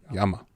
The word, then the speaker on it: llama: combo maybe cuz it you pronounce it like y so like L how you spell llama l l a m a in Spanish that' be Yama Yama pretty sure made motorcycle